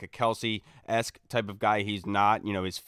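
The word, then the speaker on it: Kelce: freak of nature you know apparently it's not Kelsey they uh you know they have a podcast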